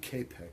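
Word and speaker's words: Čapek: Is it Copic or Chopic? What are we talking about? The writer, the author of R.U.R. Oh, I pronounce it K-Pec, but I can...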